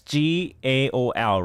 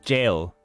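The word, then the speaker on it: gaol: this sentence they use g-a-o-l right and i thought i was thought it pronounced gao no it's jail like j-a-i-l this is g-a-o-l okay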